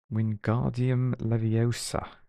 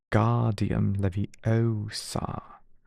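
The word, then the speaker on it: Wingardium Leviosa: "Wardium Leviosa!" he shouted, waving his long arms like a windmill. You're saying it wrong. He heard Hermione snap. It's when guardium levy oar. Make the gar nice and long.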